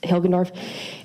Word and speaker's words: Hilgendorf: my name is hilgendorf my first name is spelt h-a-n-n-a and my last name is hilgendorf h-i-l-g-e-n-d-o-r-f how old are you i am